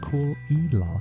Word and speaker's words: Caol Ila: THIS ONE IS pronounced "Cool Eela" and yes, absolutely everyone butchers it the first time, so don't feel bad. Caol Eela is the smooth operator